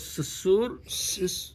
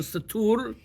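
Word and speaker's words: סתור: The name was Sesur, or in the Hebrew pronunciation, Satur, in the Hebrew pronunciation.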